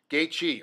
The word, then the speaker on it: Gaethje: yes I had to ask him how to pronounce his name gate gate Chi right gate yeah there it is see even